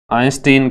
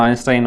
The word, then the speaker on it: आइंस्टाइन: आइंस्टीन कह दो या आइंस्टाइन कह दो, इंग्लिश में ऐसे इसका उच्चारण आइंस्टाइन होता है।